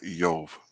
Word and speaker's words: Iyob: Yeah, Eov.